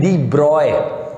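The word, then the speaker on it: de Broglie: Lecture number 20, lecture 20 में बात करेंगे हम दोस्तों डी ब्रॉगली। दोस्तों, डी ब्रॉगली भी पढ़ सकते हो, डी ब्रॉजली, बहुत सारे प्रोनाउंसिएशन होते हैं। एक्चुअली में डी ब्रॉय भी होता है प्रोनाउंसिएशन, डी ब्रॉय।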